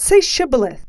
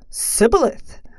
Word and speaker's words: Shibboleth: When a fugitive of Ephraim wanted to cross the Jordan, the Gilead guards would say Shibboleth. The Ephraim man would say, Sibboleth, for he could not pronounce it correctly.